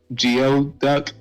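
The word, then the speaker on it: geoduck: uncomfortable oh my goodness you say go duck again I'm you know pronounce it geod duck and it sound like a Pokemon yeah kind of does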